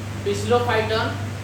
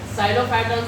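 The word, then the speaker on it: Psilophyton: तो लास्ट में बच गया पिसलोफाइटन। ठीक? जो सिलेलेगी उसको तो क्योंकि इसमें सिलोफाइटन लिखा है तो मतलब सिलेलेगी तो पी साइलेंट है उसका। तो साइलोफाइटन से क्या-क्या निकल रहा है?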